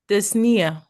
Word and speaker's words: dyspnea: Dyspnea. Dyspnea. Or dyspnea. Or dyspnea. Whatever it is, you don't pronounce the P.